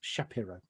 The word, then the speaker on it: Shapiro: developed by a lady called francis shapiro that's shapiro pronounced it properly and what she noticed is that